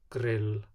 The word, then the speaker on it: grill: In loan words and gælunöfn, or Icelandic nicknames, the pronunciation is just a long L sound. Knowing a word's origin helps here. Bolla, milla, grill, palli.